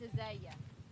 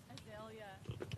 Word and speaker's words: Azalea: Now, how do you pronounce it? Because in Georgia, where I come from, it's Azalea. Azalea. Azalea. AJ, You put whatever. a hard L in it.